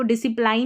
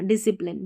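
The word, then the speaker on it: discipline: एस सी साथ में डिसी फिर प्लिन पी एल आई एन E plane. ठीक है? इसको डिसिप्लाइन नहीं बोला। डिसिप्लिन डिसिप्लिन यहां पर देखिए डिसिप्लिन अनुशासन होता है।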